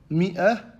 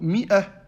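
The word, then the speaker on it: مائة: Tout comme le mot Mi'ah. Après le Mim, ils ont rajouté un Elif pour le distinguer de Fi'ah. Cependant, ce Elif-là n'a aucun impact dans la prononciation du mot.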